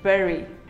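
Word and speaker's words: bury: for you to pronounce do you call it bhari bhuri or bhuri well none of them is correct it is simply pronounced as berry epitome it is not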